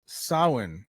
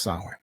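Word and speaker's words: Samhain: And it's pronounced sin, but it's spelled s a m h a i n, but it's it's pronounced sin. So, just to throw that out there. The ancient Kelts celebrated sin on the night of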